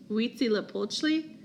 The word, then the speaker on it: Huitzilopochtli: this Aztec God much less know how to pronounce it it's Huitzilopochtli I know you're not gonna remember how to